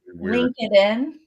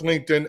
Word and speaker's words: LinkedIn: like LinkedIn they'll say link it in but he does that on purpose and then everyone starts commenting you don't know how to pronounce LinkedIn and he's getting all